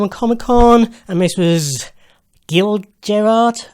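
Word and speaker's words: Gil Gerard: comic-con and this was guild Gerard I think is how it's pronounced right as opposed to Jill jerard Buck Rogers in Buck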